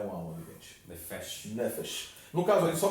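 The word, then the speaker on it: נֶפֶשׁ: Então, nesse verso específico, por uma questão de fonética hebraica, a pronúncia correta não é nefesh, é nefesh.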